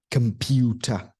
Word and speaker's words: computer: different ways next word computer c o m p u t e r it's not com computer it's computer computer listen and repeat with